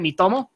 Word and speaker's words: Miitomo: Miitomo?